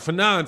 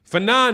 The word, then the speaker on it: Fannon: first of all man my name is not for none you're saying my name ain't phenom so i don't know what you're talking about my that's not even my name fanon is france fanon the psychiatrist you know the psychiatrist the philosopher that's whose name is fanon and i spell it